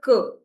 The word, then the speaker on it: que: Pronunciation is cuh. Just cuh.